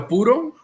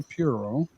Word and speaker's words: puro: So What's a puro? So Okay. a puro. Okay. All right. Hey Jay, we got to say it right. Un puro. Okay, puro. Puro. Not puro.